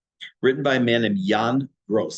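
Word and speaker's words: Jan: book called Neighbors written by a man named Yan gross spelled j an Yan gross and I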